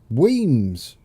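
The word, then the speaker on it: Wemyss: that's a bit of scenery there's a lightning pronounced Weems oh I can do Wings yeah there we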